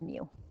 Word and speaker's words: mu: is mu is our population mean it says pronounce it as mu so this is still math we have some